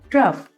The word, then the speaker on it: trough: इसी तरीके से रफ और है TROUGH ट्रफ, COUGH कफ।